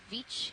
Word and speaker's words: Veatch: here at Veatch Canyon, which we had a very spirited debate before the dive on the exact pronunciation of. But we've said Veatch, this is the company line, and that's what we're doing from here on out.